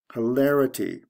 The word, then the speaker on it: hilarity: Hilarious, hilarity. The stress goes from the second to the third syllable, I-O-U-S to I-T-Y, or